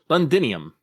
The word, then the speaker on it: Londinium: eleven yeah section 11 londinium I pronounced that right right yes it is yay the so hey